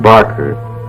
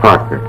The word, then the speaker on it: Parker: It's not Barker, it's Parker.